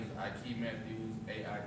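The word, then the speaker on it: Aike Matthews: start off by saying your name because you spell it my name is I Matthews a i k e m a t t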